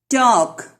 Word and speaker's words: talk: Talk. L is silent.